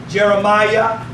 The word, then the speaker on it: Jeremiah: hear it Isaiah Zachariah so whenever you see the I a at the end of a name it always pronounced as the yah Jeremiah Zachariah Obadiah Saints it's